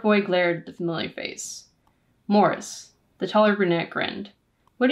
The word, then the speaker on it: Maurice: was in Middle School I'm pretty sure we call him Maurice but I think the British pronunciation is Morris I know the am Forster novel they pronounce it Morris I'm gonna call him